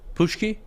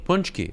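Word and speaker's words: pączki: what is it called pacqui pushki punch key punch key okay I was saying it wrong sorry well are you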